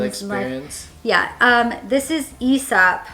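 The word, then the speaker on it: Aesop: yeah um this is esap I think it's pronounced isap esab yeah I would have assumed it's like ASAP Like asap's Fable but it's esap apparently their Resurrection hand wash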